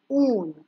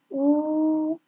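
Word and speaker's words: ऊन: In Hindi, Oon. Oon. Oon. Repeat after me. Oon.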